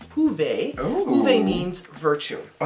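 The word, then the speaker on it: Hyve: And the word hive, H-Y-V-E, is actually pronounced huve.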